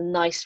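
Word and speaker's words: gneiss: is this metamorphic rock the nice rock of the silent g that i wear around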